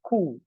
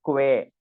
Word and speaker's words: que: So you need to remember it is K, it is not que. This U is not pronounced.